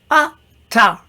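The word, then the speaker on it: עתה: Ata, which is the word now. It sounds like you, but it's not. Spelt with an ayin, it is now.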